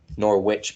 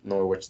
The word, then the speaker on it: Norwich: versus norwich liverpool three norwich zero nor witch beef norwich never pronounced the w rule number one so